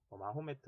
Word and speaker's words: 마호메트: 매트 라고 거기에 뭐 발음 차이 입니다 영어 발음을 하냐 아닌 현지 발음을 하냐 뭐 이러한 차이인데 마호메트 라고 해도 맞고 무함마드 라 해도 말씀 맞는 말입니다 34 우리 교과서에 뭐 한 마디 라고 나와 있으니까 우리는 무함마드 라고 부릅시다 자외 서울이 무함마드가 유일신